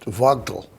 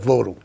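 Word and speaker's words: Vogtle: it's a German word and German would be pronounced Vogal Vogal fogal actually may yeah FAL V is pronounced like an F but the local people call it votal votal yeah well local people are always right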